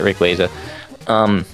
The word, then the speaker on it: Rayquaza: Rayquaza. I pronounce it Rayquaza.